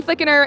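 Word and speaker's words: Flickinger: flicking there from Georgia Haley flicking her oh yes silent G Haley flicking her in second place and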